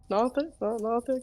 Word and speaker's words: Nothic: Nothic. Is that how you say it? Yes. So as you make your way over to the Nothic, it's just Gothic with an N instead of a Oh, U.